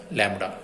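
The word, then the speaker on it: lambda: इट is denoted by symbol, this symbol, and pronounce as लैम्बडा।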